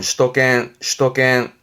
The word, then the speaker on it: 首都圏: 수도권, 발음은 슈도겐.